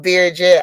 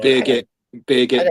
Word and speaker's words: Birgit: I will, Beerjet. I will, Beerget. I always say this name wrong. Birgit, don't worry.